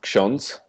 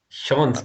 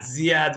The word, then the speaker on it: ksiądz: It's pronounced ksiądz. Shons. Oh my God. Till now I was like Yeah. Ziad, but something else.